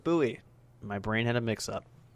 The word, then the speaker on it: Bowie: a david bowie club i said bowie because there's a place nearby here spelled the same way but everyone calls it buoy my brain had a